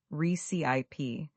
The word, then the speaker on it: recipe: Let's talk about the word recipe. Many learners put the stress on the second syllable, recip, but the correct pronunciation has the stress on the first syllable, recip.